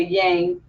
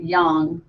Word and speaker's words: yang: is why a ng sometimes people say yang but I think that Chinese usually pronounce it young so let's talk a